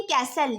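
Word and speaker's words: castle: आप यहां पर देखें कैसल यहां पर टी हमारे पास साइलेंट है इसके नीचे हमने अंडरलाइन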